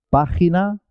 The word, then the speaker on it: página: Jinete se escribe con J, página se escribe con G, pero los dos suenan ji, ji, con la garganta, ji.